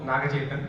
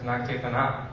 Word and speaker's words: Nagachetan: Yeah, Navang, and my name also Nagachetan. So I think the announcer told earlier as Nagachetana, so it's okay.